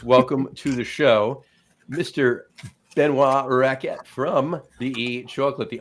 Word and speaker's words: Benoit: I'm not pronouncing the T in Benoit. It's exactly like chocolat, and like Chocolat. Benoit, Chocolat. you Yeah. know, all three have a T at the end, and none of the T's are said.